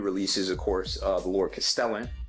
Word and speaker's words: Castellan: Of course, the Lord Castellan, rhymes with the repellent, and the terrain, the Balfour Arches, and then you also have the Balfour Gateways and the Ophidian Archway as well.